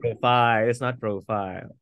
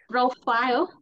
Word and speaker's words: profile: you say that again it's not profile profile uh it's about the stress ah this is a